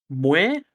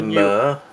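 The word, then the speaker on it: Muir: Levi Moore? I think it's Mur. M-U-I-R.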